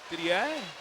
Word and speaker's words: Didier: I like to put the French pronunciation on it. Didier, 111.18 is Lindsay's time.